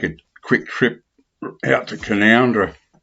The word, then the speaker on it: Canowindra: Just thought I'd take a quick trip out to Canoundra, spelt Canowindra, spelt Canowindra, but it's pronounced locally as Canoundra.